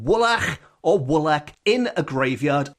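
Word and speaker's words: woolach: voice saying wool wool, which is wo o l a c h twice. Woolak. Woolak, which I am assuming is pronounced in that way in the Welsh way.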